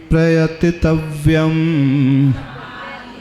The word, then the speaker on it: प्रयतितव्यम्: ती जो है दीर्घ नहीं है, समाधि मरणे प्रयतितव्यम नहीं पढ़ना, समाधि मरणे प्रयतितव्यम।